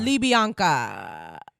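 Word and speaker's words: Libianca: Libyanka. It's not written like that. That's how you say it.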